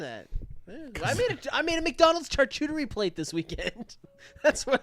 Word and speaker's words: charcuterie: A charcuterie. Mhm. That's the proper way to say it.